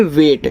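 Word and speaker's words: wait: तो जब बीच में आपका ए आई हो यानी कि ए के साथ आई लगा होता है तो हम ए आई को यहां ए की मात्रा के रूप में पढ़ते हैं और टी से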